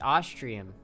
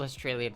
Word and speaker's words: Austrian: How do you mispronounce Austrian tap water? It's Austrian. Do people not know how to pronounce Austria? Gussie Fressy Ussy. Speak Latin. Cops don't speak Latin. What? Australian tap water? Oh, if people think it's Australian. I get called Australian 9 times out of 10.